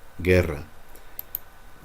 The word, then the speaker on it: guerra: Remember, because that U there is just to make the G hard. Guerra.